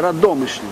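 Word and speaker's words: Radomyśl: містечка саме з назвою Радомишль е згідно з нормами польської мови наголос завжди робиться на передостанньому складі а с е настільки м'яке що воно інколи передходить в ш і ця стара форма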